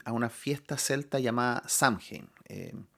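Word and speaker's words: Samhain: una fiesta Celta llamada samhein eh También est buscando Cómo se pronuncia esto y algunos lo pronuncian como sowen ya pero vamos a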